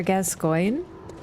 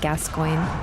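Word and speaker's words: Gascoigne: cold actually pronounce father gascoin it's not that hard to say there's just a couple extra letters in there because it's French I want to handle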